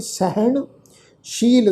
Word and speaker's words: सहनशील: सहनशील संतं, ये पाठ है जी सहनशील, सस्से के पैर में बिंदी लगा के पाठ उच्चारण करांगे शील, क्योंकि असल जिहड़ा शब्द